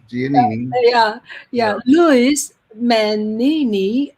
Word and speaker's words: Giannini: I don't know how to pronounce. Giannini.